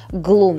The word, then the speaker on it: Gloom: Я только сейчас поняла, что, оказывается, все это время неправильно произносила название этого темно-серого оттенка. Называется он вообще Gloom.